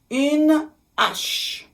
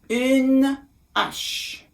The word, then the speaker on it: une hache: Une hache. Une hache. Now, I didn't make the liaison.